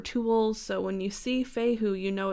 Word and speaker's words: Fehu: So this first one here is called Fehu and it is spelled F-E-H-U, and this rune is depiction of